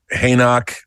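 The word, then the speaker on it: Henoch: right pronounced huk huk hanok like Enoch from ha from well it is it is a the stack for the future it is a play on Enoch hanok whatever from the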